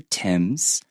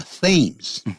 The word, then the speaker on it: Thames: 泰晤士河，很多人呢会把它念成 the Thames，但是很遗憾的，它不是 th，它那个 h 不发音，然后 a 呢，它也念成 at the Thames，所以 on the